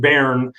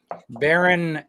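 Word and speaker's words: Bern: kind of double cursed with his his is pronounced baron but it's spelled b-e-r-m it's capital of switzerland baron anders anders yes andrus i know it's cool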